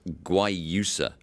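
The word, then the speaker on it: guayusa: about this this leaf it's pronounced guai you sir what exactly is it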